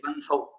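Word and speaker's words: वह्नौ: Both of them are correct. But the pronunciation is Vanhau. Oh, okay.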